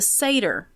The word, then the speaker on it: Sator: century AD is the Satyr square, sometimes also called the Rhodes square. So Satyr is spelled Sator, and then Rhodes is the same spelled backwards.